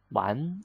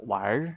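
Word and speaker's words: 玩: number one it's a one or wire you can pronounce one or with our song wire okay one is to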